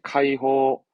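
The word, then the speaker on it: 解放: 호소처럼 이 기본은 호로 발음이 되어집니다. 뭘까요? 네, 해방입니다. 해는 카이로 가죠? 네, 카이호, 카이호, 카이호.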